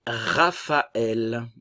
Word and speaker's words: Raphaël: Et Raphaël, ok, nous avons ici le PH qui va se prononcer comme un F.